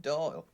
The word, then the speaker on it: Doyle: Oh, Herbert Doyle. Secretary and godfather. Doyle. Doyle. Rhymes with Boyle.